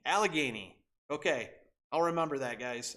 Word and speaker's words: Allegheny: I have significantly by buying and selling it's pronounced Allah Gainey Allegheny okay I'll remember that guys Allegheny um but I've I've loaded up on so